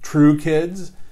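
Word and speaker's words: Tru Kids: And so the company that bought the intellectual property is called True Kids. But it's spelled TRU, as in Toys R Us, the acronym.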